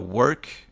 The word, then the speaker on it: Wrk: VP marketing at uh work am am I I'm pronouncing that all right yeah correct yep even even though there's a there's a vowel missing um it's more efficient